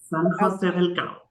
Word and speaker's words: San José del Cabo: San José de los Cabos? Is that how you pronounce it? That's correct. San José del Cabo.